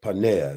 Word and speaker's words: Paneah: Paneah, which is the root is panich. Paneah is how it's pronounced.